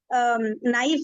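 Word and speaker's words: knife: में करते हैं ना नाइफ है के को हम साइलेंट कर देते हैं ना लिखा हुआ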